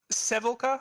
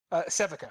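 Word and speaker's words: Sevika: Which Sevilka, I think is how you say her name. Sevica, sorry, there's no L.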